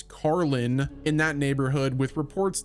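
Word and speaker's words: Karlín: Now, like I mentioned before, filming has been taking place in Prague's, I believe the pronunciation is Karlin, in that neighborhood, with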